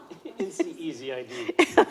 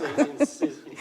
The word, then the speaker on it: NCEZID: NCEZID. Don't say NCISI. It sounds like you're seizing.